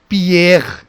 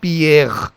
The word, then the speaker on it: Pierre: So first let us look into this part, which is again Pierre, Pierre, and this one is pronounced as Curie, Curie, Curie. So now you see that same R will have a guttural sound Pierre.